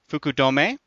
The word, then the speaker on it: Fukudome: or iTunes name was Fukudome I found out is how you pronounce that wrote a very nice